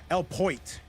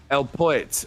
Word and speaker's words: El Poit: By the way, I'm getting word that the name is actually pronounced El Poit. So we're going to say it like that. El Poit.